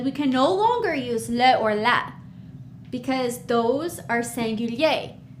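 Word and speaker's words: les: more than one and in French we say leo as you can see the s is we don't pronounce it we write it we see it when we read it but it's just leo all right good job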